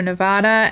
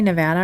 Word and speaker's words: Nevada: thing coming up so Nevada and then do you say Nevada or Nevada I think I say Nevada and yeah and then